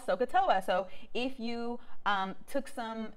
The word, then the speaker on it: SOHCAHTOA: know about sohcahtoa so sokata has three syllables the first syllable is so s is sine o and h is opposite over hypotenuse k is the second syllable which is cosine um adjacent over hypotenuse and then lastly is toa toa is the last syllable that's tangent which is